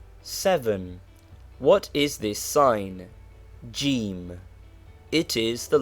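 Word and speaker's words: ج: what is this sign jim it is the letter jim which is the english j but pronounced hard g in egypt the initial form of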